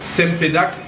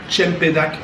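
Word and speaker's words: cempedak: fruit de Jacquet champenac ça s'écrivait qu'un C au début mais parfois les mots aussi je les prononce à la malaisienne des fois je les prononce à la française sempédacte ou chiant pédac comme on dit en malaisien et ouais ça c'est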